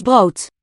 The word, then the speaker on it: brood: De mannen hebben vers brood. Here's brood. De mannen hebben vers brood. Brood. I hear a diphthong here, brood. De mannen hebben vers brood. Which German does not have there.